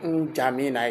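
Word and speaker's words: N'Djamena: So jamina they pronounce it like jamina. It's N. It started with N.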